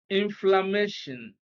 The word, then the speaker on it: inflammation: So stress is on MA before TION.